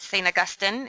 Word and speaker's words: St. Augustine: Augustine, or UWI as folks call it, and to also be continuously reminded that St. Augustine is the appropriate way to pronounce the city name.